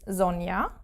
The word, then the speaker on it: Sonja: its name in German, it is not pronounced like the English J. There is no J sound. It is more like an I in English, Y. So, for example, my own name, which is Sonja, with a J, it's